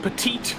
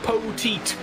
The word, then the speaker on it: Poteet: greene over alan cundiman dylan petit poteet i gotta remember that he told us how to say it it's dylan poteet in third place and